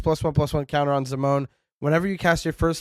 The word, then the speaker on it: Zimone: I got so much for pronouncing it Zimony in a video.